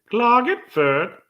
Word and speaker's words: Klagenfurt: So you pronounce that so differently than I would have. It's usually Klagenfurt.